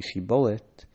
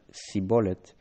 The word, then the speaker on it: shibboleth: by having them say shibboleth, stream, river, might relate here. The Ephraimites apparently pronounced shibboleth as sibboleth.